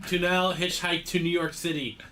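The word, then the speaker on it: Tunnell: it right yeah I I just remember him emphasizing the second n yes tunell okay Bob great Stephen on his pronunciation tunell hitchhike to New York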